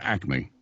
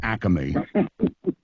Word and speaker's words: Acme: things like Acy but it's the stores of Acme not Acy that's called a regionalism